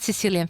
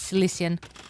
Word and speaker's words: Cilician: It's not Sicilian fleet, it's Cilician. And it's spelled with CI, not with an S.